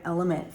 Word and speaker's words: LMNT: So, I'm a long time Element fan. I think it's pronounced Element. It's L M N T.